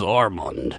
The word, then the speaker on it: Armand: How do they prefer to have that pronunciated? We will find out. Armand. My name is Armand.